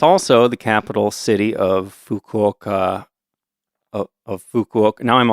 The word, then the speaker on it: Fukuoka: Fukuoka, but uh but we're going to say it like Americans. We're just going to say Fukawaka, right? I think I'm going to go with Fukuoka.